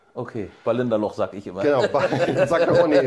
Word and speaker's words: Ballindalloch: Wie wird es Aus ausgesprochen? Ballendallach. Okay, Ballinderloch, sag ich immer.